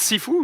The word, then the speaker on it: Sifu: ça se prononce si fou. Je dis Sifu.